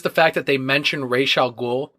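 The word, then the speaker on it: Ra's al Ghul: it but just the fact that they mention raal ghou pronounce it correctly first of all and uh Swamp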